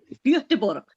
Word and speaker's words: Göteborg: Göteborg. Göteborg. Wow. Very good pronunciation.